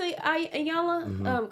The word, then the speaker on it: Iyanla: So they felt very sensitive to Iyanla. Correct me if I'm saying it wrong. No, you said it right, Iyanla.